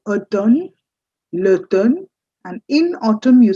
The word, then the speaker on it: automne: M is completely silent. L'automne. It's actually automne.